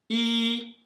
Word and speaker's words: 一: Os números são 1, I, no primeiro tom.